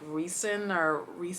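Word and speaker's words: Rhysand: supposed to be like Reason or something like that. I say Ryzen, like rye bread, like rye, right?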